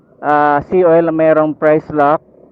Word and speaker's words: Pricelocq: So, successful tayo dito sa ah se oil na merong price lock. Price lock. I think yun ang pag-pronounce niyon kasi iba yung spelling.